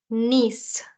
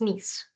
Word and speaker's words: Nice: Nice. The I is the sound of E in French, so it's Nice.